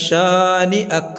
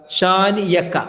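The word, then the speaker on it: شانئك: ഇന്ന ശാനിഅക ഹുവൽ അബ്തർ. ഇന്ന നൂന് ശബ്ദുണ്ട്, മണിക്കണം. ഇന്ന ശാനിഅക, ശാനിയക, യാ അല്ല ഹംസയാണ്.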